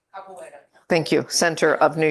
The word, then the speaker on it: Capoeira: for Dance Brazil and the Capoeira, I'm sure I mispronounced that. Capoeira.